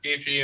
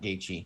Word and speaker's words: Gaethje: favorite fighters, I like Gaethje. I hope Gaethje beats him. One of the reasons unconscious. why is because his name is pronounced not the way it's spelled, and I don't care what anyone says.